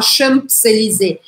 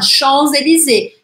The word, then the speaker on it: Champs-Élysées: Ao final da palavra, eu não pronuncio. No caso, por exemplo, Champs-Élysées, eu não vou falar Champs-Élysées. Vou falar Champs-Élysées. Mas em septembre, eu tenho que pronunciar. Agora, a última coisa que